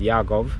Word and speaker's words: Yaakov: I spent 2 years there working under the guide of Professor Jacob Sagiv, of course pronounced Yaakov Sagiv, in Hebrew.